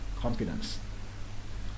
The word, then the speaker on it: confidence: Confidence, nhấn lần đầu.